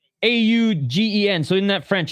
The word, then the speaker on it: Augen: I don't even know how to pronounce it like English. So it's Augen.